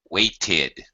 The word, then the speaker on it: waited: The only time you say id or pronounce it as a separate vowel sound, like id, is when the verb ends with a T, letter T, or a letter D. Decide, decided. Wait, waited.